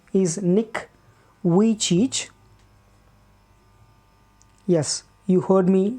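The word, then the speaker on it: Vujicic: is nick yeah nick his name is nick we cheech yes you heard me right nick which each pronounced as nick which each there are some other pronunciations also people some people pronounce this as nick vieux sick and some pronounce it as nick why cheech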